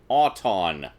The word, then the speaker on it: Auton: Auton, like automobile or automatic.